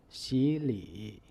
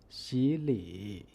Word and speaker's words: 洗礼: For example, 洗礼. Pay attention to the pronunciation. The third tone 洗 becomes the second tone 习, which can be represented by the tone number 3-5.